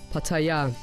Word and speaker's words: Pattaya: By the way, the correct way to pronounce the name of the city is by stressing the last syllable, Pattaya.